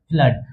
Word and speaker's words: flood: तो ये याद रखना एफ L double O डी को फ्लूइड मत कर देना। एफ L double O डी को फ्लूइड कहोगे? बिल्कुल नहीं। इसे क्या बोलेंगे? फ्लड।